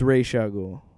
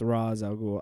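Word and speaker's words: Ra's al Ghul: the Raz all go it's Ray shle huh it's Ray shle whatever I'm joking that's how uh Kevin Conroy's Batman pronounces him but then Christopher Nolan's Batman's ra aloul I always thought it was Rao but anyway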